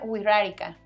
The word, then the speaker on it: Wixárika: Se pronuncia Wixárika.